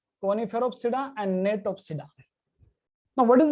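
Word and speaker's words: Gnetopsida: और सबसे advanced gymnosperm है नेटोप्सिडा, जी silent here, नेटोप्सिडा, नेटोप्सिडा, जी is silent here, नेटोप्सिडा।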